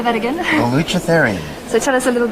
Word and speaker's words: Baluchitherium: of fun on particular little things like the unpronounceable instrumental. It's called Baluchitherium. Can you say that again? Baluchitherium.